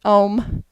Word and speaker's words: Ogham: Some people pronounce it Ohm. I pronounce the G, just personal preference. Now, if I lived in Scotland, I'd probably be corrected. Ogham is the oldest form of writing in Ireland and Scotland.